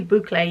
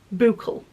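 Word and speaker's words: bouclé: I was calling boucle Boucle. And it's only recently I found out it's pronounced boucle, which I should know better because I did take French at school.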